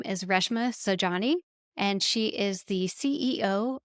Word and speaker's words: Reshma Saujani: sure I enunciate correctly that her name is Reshma Saujani, and she is the CEO of Girls Who Code.